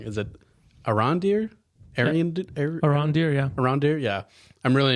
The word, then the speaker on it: Arondir: I always pronounce his name wrong. Is it Arondir? Arondir, yeah.